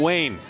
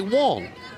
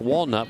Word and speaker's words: Wong: This is Wayne, or I should say Wong. She said, basically, if you want to say my name right, say it like Walnut without the UT, Waln.